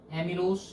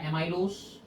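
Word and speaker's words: amylose: Starch की अगर structure की बात करते हैं, starch is composed of mainly 2 units, एमिलोस या एमाइलोस।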